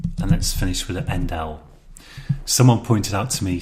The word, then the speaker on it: endl: And let's finish with an endl. Someone pointed out to me since I made this course that I probably should say endl, not endler.